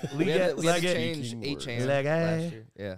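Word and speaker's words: Achane: It's actually A-Chain.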